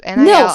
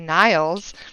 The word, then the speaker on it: Nils: And I'm like, Niles, but it's Nils, it's Nils. Nils. I'm like, if it were Where's the Nile. E? Yeah, I was like, there'd have to be an E in there for it to be Niles.